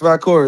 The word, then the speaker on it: Valkyria: Oh yeah, pronounce it's her name. Valkyria. It's Valkyria.